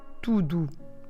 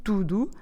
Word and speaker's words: tudo: You see, both syllables have the same sound U. Put your lips round and forward. U. As if you're going to whistle. Let's do it again. U. It's a bit like the sound of a double O in English. But don't forget that in order to say tudo, we need to stress the first bit of the word. Tu, not the do.